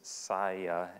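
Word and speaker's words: Saia: clients like bmw michelin saya and for any of you who have passed these trucks on the road and wondered how do you pronounce that and do they make salsa no it's psy and they're an ltl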